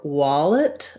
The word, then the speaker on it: wallet: this in the dictionary first syllable stress so wah this is the same start we have on words like wash and wand i'm having some rounding on that lax vowel wallet um and then actually we probably have an e sound an unstressed second syllable wallet or even a bit of a schwa wallet what you want is just to be very short and reduced on that second syllable so long wall and